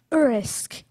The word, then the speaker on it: urisk: Urisk.